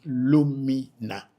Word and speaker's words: Orunmila: So the word Orunmila, which is a Yoruba word, the Eves pronounce it Lumina.